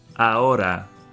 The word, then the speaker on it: ahora: Ahora. Ahora. The H by itself is silent, it makes no sound.